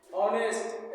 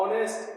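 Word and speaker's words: honest: means इज्जत या सम्मान ऑनेस्ट एच ओ एन ई एस टी इसमें क्या है silent letter silent letter H है इस एच का उच्चारण बिल्कुल नहीं करना है एच का उच्चारण नहीं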